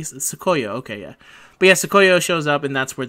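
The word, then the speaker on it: Tsukuyo: Sukuyo? Sukuyo? Is that how they say her name? Yeah, Sukuyo.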